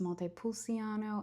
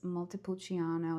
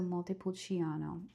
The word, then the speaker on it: Montepulciano: It's not pronounced Montepulciano, it's Montepulciano. It's like ch like the c is like a ch.